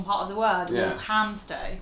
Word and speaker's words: Walthamstow: Walthamstow. No, it should be It's not a ham. First one. Walthamstow.